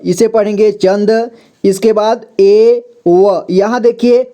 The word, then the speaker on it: एवं: अं की मात्रा तो यहां पे एवं इसे वम पढ़ेंगे ठीक है यानी कि अम की मात्रा इसमें लगाएंगे तो इसे एवं पढ़ेंगे एवं का मतलब होता